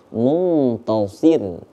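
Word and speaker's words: مُنتَصِر: ada tafkhim ada tarqik yang Fiz zuubur dibaca tebal kalau yang Muntasir dibaca tipis karena sebelum huruf ro itu terdapat huruf berbaris kasrah itu kenapa kita bacanya Muntasir Ir tipis nah gitu yaah bisa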